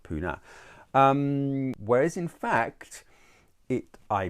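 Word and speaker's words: Pune: is actually spelt with the knee but it's pronounced puna whereas in fact it i presume is referring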